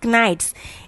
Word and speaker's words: knights: not pronounce it as knights it will be called as knights k is silent over you then the